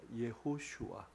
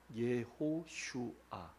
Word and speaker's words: 여호수아: 여호수아 정확한 발음은 예호슈아입니다. 예호슈아, 예, 예호슈아. 그걸 제가 표기를 해드릴 걸 그랬네. 예호슈아.